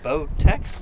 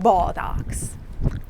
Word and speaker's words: Botox: Botex? Yeah, but it's you not say buttocks. like Botox.